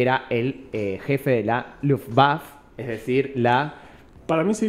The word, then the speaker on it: Luftwaffe: La E final se pronuncia. O sea, dice Luftwaffe.